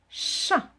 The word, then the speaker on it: chat: s'écrit pas comme ça il a à la fin une lettre muette qui est le thé parce que chatons